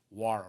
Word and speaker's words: Nwora: Obviously, they can score outside with the likes of, I always say his name wrong, Wara, right? I say the N. Wara, sorry. The N is silent.